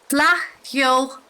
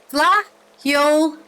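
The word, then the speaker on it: Fleadh Cheoil: Flaith Cheoil na nGael Flaith Cheoil na nGael. There you go. That guy was Irish. That's how you say it.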